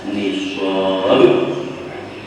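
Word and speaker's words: نصاب: syaratnya sudah sampai Nis Nun Shad alif ba dibacanya nisab kita lidar biasanya kepala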